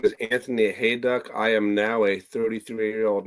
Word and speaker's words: Hayduk: It's Hayduk. Yeah, it's like hay and duck without the C.